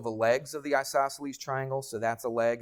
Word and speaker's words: isosceles: It's isosceles. All right? It's isos, all right? I-S-O-S, and then celes. C-E-L-E-S.